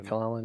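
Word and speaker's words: McKellen: the Gandalf okay yeah is that how you pronounce his last name mclen or something mclen yeah Magneto and Gandalf yeah so I think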